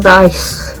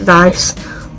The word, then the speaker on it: Weisz: the movie because rachel dice i think she's cool i think you pronounce it vice and she has quite